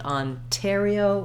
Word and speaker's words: Ontario: NT this time we we do always say that t Sound Ontario with that puff of air because it starts the stress syllable so in a word like Hotel or guitar downtown when we're we have stress on that syllable that starts with the T we use it just like the beginning so tell Hotel Terio